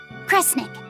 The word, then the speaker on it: Kresnik: Kresnik.